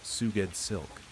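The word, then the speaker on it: SGOUEDSLK: S G O U E D S L K pronounced Suged Silk.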